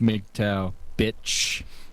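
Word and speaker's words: MGTOW: way she doesn't know there's a pronunciation it's meek tau mg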